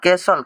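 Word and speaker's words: castle: हटा देते हैं भाई टी को हटाए तो यहां पर यह हम लोग का क्या बचा कैसल कैसल यहां पर कै यहां पर स और ल बच गया ठीक है यहां पर एल इ लग रहा है ले बच रहा ले बोलेंगे बाकी ये सब क्या किया जाएगा इसी तरीके से बोलना पड़ेगा भाई कैसल मतलब हो जाता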